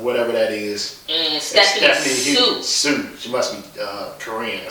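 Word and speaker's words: Hsu: And Stephanie Su. She must be Korean or something. H is silent, yeah.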